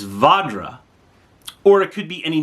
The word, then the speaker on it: Vajra: interested in knowing that you're saying it wrong, that the Sanskrit is Vajra, or it could be any number of mispronunciations, right?"